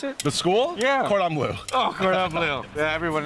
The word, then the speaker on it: Cordon Bleu: Can you pronounce it? The school? Yeah. Cordon Bleu.